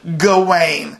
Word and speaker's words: Gawain: do call them a gowan i went and googled like the pronunciation and it is gawain so the director is